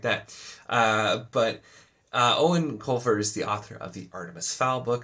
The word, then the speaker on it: Eoin: grossly mispronounced his name because it's Irish and it's pronounced Owen even though it looks like eoine or something like that uh but uh Owen Colfer is the author